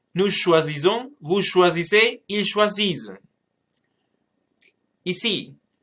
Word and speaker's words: choisissent: Et pour le pluriel, nous choisissons, vous choisissez, ils choisissent. Ici, the conjugation has double S, and remember that the E and T is not pronounced at the end.